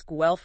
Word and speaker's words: Guelph: And uh just so everyone knows, GE rhymes with self, right?